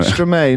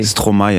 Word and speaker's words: Stromae: Stromae, not Stromae. Stromae, actually. Stromae. But it comes from maestro, yeah.